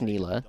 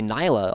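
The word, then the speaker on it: Nilah: And we know it's Nila because the very first thing we ever learned at the character was she literally came on, my name is Nila. Um, and you just when people say Nyla all the time, it's like that that's that's not correct.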